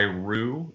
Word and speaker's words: Roo: I do go by Rue, though, like just like spelled like kangaroo.